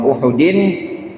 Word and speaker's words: Uhud: sahabat, kepada mereka, yauma Uhudin. Ini Uhud bacanya Ustaz ya, jangan yauma Ahadin. Yauma Ahadin mah malam Senin sekarang nih. Yauma Ahadin hari Minggu.